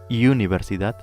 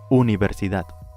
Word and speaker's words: universidad: Native English speakers pay attention, it's not universidad, it's U. Universidad.